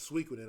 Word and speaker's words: Suikoden: That Suikoden was Suikoden. I'm sorry, that's how it's pronounced.